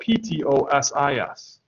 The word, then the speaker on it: ptosis: a droopy eye right you'll get ptosis but ptosis is spelled ptosis ptosis all right so here's a